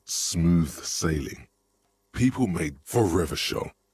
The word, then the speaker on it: Revachol: People made for Revachol, your city. If it doesn't rhyme, you're not pronouncing it right.